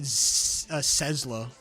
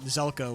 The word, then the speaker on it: Zelko: The one name that got me was Zelko. I pronounced it Sezlo initially, but Zelko was the correct pronunciation.